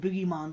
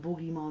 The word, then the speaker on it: bogeyman: You pronounce it Boogeyman, don't you? Whereas we pronounce it Boogeyman. Yeah, we pronounce it Bogeyman over here.